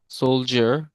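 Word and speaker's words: soldier: এয়ার কি জানেন বলেন তো তাহলে ওইটার উচ্চারণ কি এস ও এল ডি আই এ আর সোলজার ওখানে কিন্তু আমরা সোলডিয়ার বলি না সোলজার বলি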